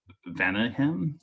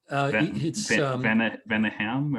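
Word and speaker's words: Vaneigem: Does it have that French sort of Venehem, or? Yeah, I think it's Venegum. Venegum. Okay. Yeah. It's, I mean, it's kind of Dutch, Belgium.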